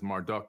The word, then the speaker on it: Marduk: After the Great Flood, Amun-Ra, aka Marduk, he's known as Marduk in the Bible, M-A-R-D-U-K. Some people say Marduk, depending on how you want to pronounce his name.